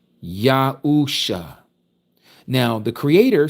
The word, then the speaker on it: Yahuusha: Yahuusha.